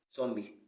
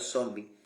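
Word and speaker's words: zonbi: Z les hablé sobre lo incorrecto de pronunciar zombie cuando en realidad se dice zomb una palabra en creol lengua hablada en Haití le conté la historia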